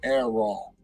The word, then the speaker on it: Errol: His name is spelled Errol, so we used to always call him Errol.